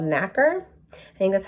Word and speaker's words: nacre: So the mollusk secretes a substance called nacre. I think that's how you say it. It's spelled N-A-C-R-E.